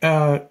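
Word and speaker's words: Achane: Achan. Yeah, Achan.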